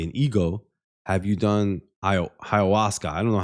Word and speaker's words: ayahuasca: Pronounce ayahuasca. Ayahuasca.